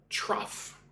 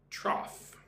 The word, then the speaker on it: trough: Trough. I'll write that down. Trough. Say it like this. Trough. Tr O F.